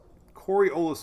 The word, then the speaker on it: Coriolis: let's see corio's effect i just don't know how to say it corey olas coriolis effect there we go let's see if i